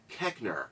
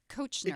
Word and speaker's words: Koechner: David Koechner.